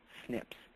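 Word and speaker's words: SNPs: DNA predisposition are called single nucleotide polymorphisms or pronounced Snips now this accounts for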